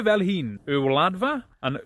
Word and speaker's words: Y Wladfa: Duncan from Wales to help out with the pronunciation. Hey, shwmai Paul, ti'n iawn? Right, rydych chi'n dweud e fel hyn, y wladfa and y wladychfa Gymraeg.